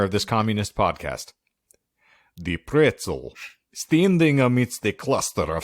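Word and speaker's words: Pretzal: p-r-e-t-z-a-l no it's the pretzel it is the pretzel but but it's spelled pretzel but I think everyone just calls it the Crystal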